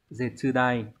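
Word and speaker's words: 絶大: Hán tự là chữ tuyệt, chữ đại. Đọc là Zetsudai.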